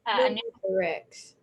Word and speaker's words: pneumothorax: Pneumothorax.